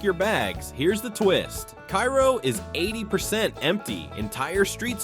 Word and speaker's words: Cairo: Once a booming river port at the southern tip of the state, Cairo, pronounced Cairo, not like the Egyptian capital, is now better known for its eerie silence and sky-high vacancy rate.